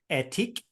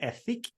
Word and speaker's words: Ethique: It's called Ethique. Some people might pronounce it Ethique, but essentially her mission was to stop shampoo bottles and come up with a shampoo bar.